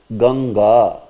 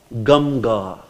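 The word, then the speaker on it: गङ्गा: If there was anuswar, then you would have pronounced it as Gamga. Gamga. Gamga. Do you pronounce as Gamga? No, we don't pronounce as Gamga. We pronounce as Ganga.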